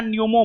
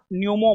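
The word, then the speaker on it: pneumo: Human Meta न्यूमो virus. हां हां हां हां ठीक हो नहीं जी यहां पर जो है ना नहीं सुनिए पी साइलेंट है human Meta न्यूमो virus P silent है बाबू सी होगा एचएमपी भी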